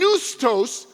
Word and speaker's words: pneustos: And neustos is the second part. Neustos with a silent P, P-N-E-U-S-T-O-S, from which we get the English